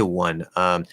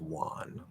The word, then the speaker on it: won: But no, it's pronounced Juan. So it's actually it's exactly like the Spanish name Juan, except instead of there's no h there.